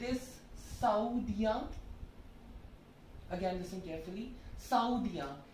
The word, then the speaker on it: Saoudien: Saoudien. S-A-O-U-D-I-E-N.